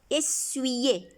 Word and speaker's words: essuyer: Essuyer. C'est comme si on a un I ici. Essuyer la poussière. I ici se prononce I.